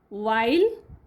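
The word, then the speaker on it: while: एस केस क skin वाइल H silent वाइल words R आर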